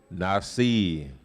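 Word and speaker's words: נשיא: That word is Nasi. You can say Nasiah, but it's really Nasi.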